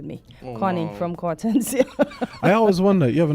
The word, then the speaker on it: Kortensia: But I keep saying it's 3 syllables. Kortensia.